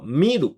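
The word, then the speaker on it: 見る: 动词形式呢是咪鲁，念作咪鲁啊，好像是老谢指导的外号。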